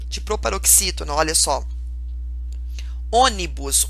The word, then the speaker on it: Ônibus: Ônibus. Ônibus é uma proparoxítona. Por quê? A antepenúltima, que é a sílaba mais forte, inclusive ela é até acentuada, tá vendo?